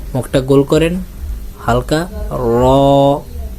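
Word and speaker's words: ر: আমরা যাব র র একটা একটু হালকা শক্ত না একবারে নরমও না মিডিয়াম র উচ্চারণ করার জন্য আপনার উপরে দুই দাঁতের মাড়ির সঙ্গে আপনার জিহ্বার আগাটা লাগান জিহ্বার আগা আপনার উপরে দুই দাঁতের মাড়ির সঙ্গে লাগান উপরের মাড়ির সঙ্গে আগে বলেন র মুখটা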